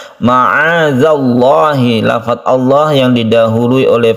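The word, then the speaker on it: معاذ الله: sini ada Ma azzallah ada zal-nya yang ada titiknya jangan disamakan dengan dalil yang ada yang tidak ada titiknya cara membacanya ma'adzallahhi lafadz Allah yang didahului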